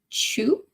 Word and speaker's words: Qiu: QIU is pronounced chew.